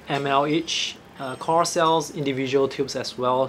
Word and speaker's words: QoR: QoR, that's pronounced as QoR.